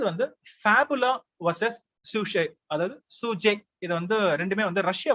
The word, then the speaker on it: sjuzhet: இது வந்து சூஜே அப்படின்னு ப்ரொனவுன்ஸ் பண்ணுவாங்க, SJUZHET, சூஜே.